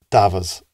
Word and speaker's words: davas: The word for sheep is davas, and that's singular.